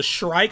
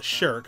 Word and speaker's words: Shrike: I mean, we got the Shrike. I don't know why I was calling it the Shirk. I always like mispronounced those letters.